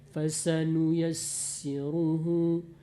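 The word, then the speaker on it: فسنيسره: Seperti tadi pasanu yassiruhu, sin kalau bertasdid Bu, dia banyakkan saja anginnya. Fasanu yassiruhu, terus di bawah tadi wanu yassiruka atas nama sin tasdid.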